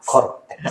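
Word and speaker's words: Coretax: Kortex. Iya. Ini kalau dibacanya kortex gitu ya.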